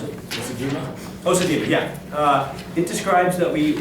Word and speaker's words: Osajima: Is that how you pronounce it? Osajima, yeah.